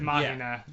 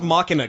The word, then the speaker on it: Machina: They were making fun of me earlier cuz I pronounced it Mahina. No, it's pronounced Machina.